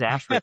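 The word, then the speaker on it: ASHRAE: there's this group called Ashray. I was like what is Ashray? That's what you had to figure out how to pronounce. Yeah, I got to figure out that long a like a lot of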